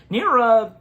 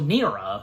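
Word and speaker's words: Neera: Yeah, Nerra. That's that is how her name is pronounced.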